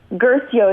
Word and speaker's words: Guercio: looking at Jimmy Guercio Guercio is how you say his name gracie o-ue our cio